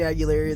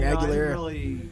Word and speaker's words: Aguilera: Hey, I can get down to I can get down to Christina Aguilera though. I butchered her name wrong. Aguilera.